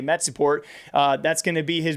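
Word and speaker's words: Metizport: And that team name always throws me off because of the spelling versus pronunciation, but I'm just going to say Metsiport.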